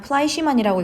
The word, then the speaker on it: Fleischmann: 여러분들 고유명사겠지만 플라이시만이라고 읽으시면 되겠습니다.